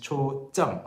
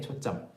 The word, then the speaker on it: 초점: So yeah, the pronunciation is 초점, okay, 초점.